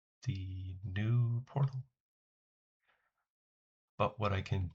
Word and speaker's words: Nous: Hopefully, I can change that to the new or noose. I still should ask those people if they pronounce the S.